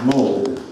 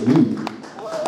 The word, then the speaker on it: Moog: The mighty boom is supposed to be pronounced Moog. I've learned after whatever 40 years. Robert Moog. It's never too late to learn, you know? I always thought it was Moog.